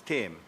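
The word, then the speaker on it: Thame: It's Tame. Tame. T-H. But pronounced Tame, Senator Tame.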